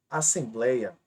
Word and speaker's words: assembleia: A palavra assembleia. Observe e preste atenção. Assembleia. Aqui é a sílaba mais forte.